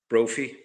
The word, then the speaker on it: Brophy: Brophie. Like trophy. Ah wow. Let's hope he went. We need him to win a trophy. Oh, yeah. Patrick Brophy came from a uh two-year starter down there.